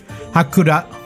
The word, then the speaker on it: Haku: the big day yeah pronounced almost entirely the same way as the Prelude protag mhm hak hak yeah she